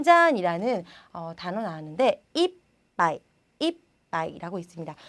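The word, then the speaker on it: いっぱい: 자, 우리 이 이빠이라는 단어는요, 여러분께서 뭐 이빠이, 이빠이 많은 이렇게 많이 얘기를 해주시는데 이빠이라고 읽으시면요, 한 잔, 한 잔, 두 잔 할 때 한 잔이 되는 거고요. 이빠이라고 읽어주시면 이빠이, 이빠이 이렇게 읽어주시면 가득, 많이 이런 뜻이 되니까요.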